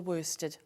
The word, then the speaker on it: worsted: But here, for example, this is 100% wool worsted. Yep. Is that how you say it? Yeah, wool worsted, yeah.